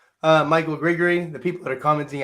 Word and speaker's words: Grigery: That's why It's like Gregory, but grit, not Greg, but grit.